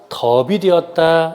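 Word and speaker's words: 맛없: "mat" 의 어미 자음 "s" 의 대표 적 인 발음 은 "d" 입니다 . "d" 가 이동 하여 "madeop" 이 됩니다 .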